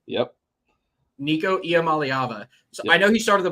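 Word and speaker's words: Iamaleava: I've I've practiced it believe it or not IAM malava yep Nico IAM malava I know he started the bowl game last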